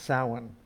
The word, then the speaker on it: Samhain: typical service this morning we will be celebrating samhain i've been told that's how to pronounce it that's one thing i've learned this week in our meetings our 10 o'clock scholar meetings with rachel it's pronounced samhain remember that here you will find a diverse